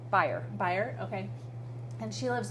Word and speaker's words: Beyer: how do you say your last name berer berer okay and she lives 30 minutes from